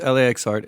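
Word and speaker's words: LAXART: It's pronounced LAX Art. It has nothing to do with the airport.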